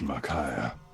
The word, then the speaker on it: Makaya: My name is Makaya. Okay. Rhymes with Messiah.